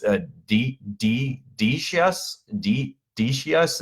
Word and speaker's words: Decius: I should always Google these guys how to pronounce these names before I get here it's a DDD chess Decius it's Dec I u.s.